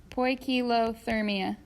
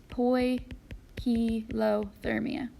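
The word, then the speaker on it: poikilothermia: or whatever they're touching koi kilo thermia I butchered that that's poi P low thermia so you want to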